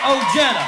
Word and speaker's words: Ojeda: you're going to know my name I'm Richard Oh Jenna hi I'm Richard Oh Jenna and I'm not